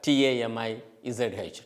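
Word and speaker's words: தமிழ்: I have spelled it the way Tamil is actually pronounced in Tamil, otherwise Tamizh, Tamil. And in Tamil Nadu, it has almost more than 7-8 variants, means the varieties.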